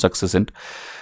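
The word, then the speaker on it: succinct: Okay, this word successcent is like success and all that's how it's pronounced successcent.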